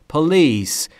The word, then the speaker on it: police: تحقیق و بررسی پلیس بچهها در مورد تلفظ پلیس دقت بکنید استرس روی ال مثل هتل که استرس روی بخش دوم روی تیه در تلفظ پلیس باید دقت بکنید استرس روی یعنی نباید تلفظ کنید پلیس یا هوتل استرس روی بخش دوم بسیاری از زبانآموزا اشتباه تلفظ میکنن پس تلفظ درست رو همین جا یاد بگیرید پولیس انستگیشن در بر